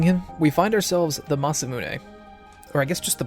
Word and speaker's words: Masamune: The Masamune? As a kid, I actually called it the Monasume, so don't judge my pronunciation.